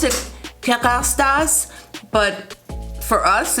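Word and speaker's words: Kérastase: Yes, they are from Paris, and it's called, they pronounce it Kerastase, but for us, it's, Kerastase, I think, Kerastase Paris.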